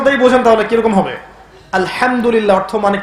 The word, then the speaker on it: আলহামদুলিল্লাহ: আলহামদুলিল্লাহ অর্থ মানে কি? এখানে যে হা আছে, এটা কি বড় হা না ছোট? হুত্তি না হাওয়াস? হায়ে হুত্তি, এটাকে বলে বড় হা।